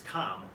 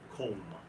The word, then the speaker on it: Comm: My name would be C-O-M-M, which you would think is calm, but it's pronounced comb. O, hard O.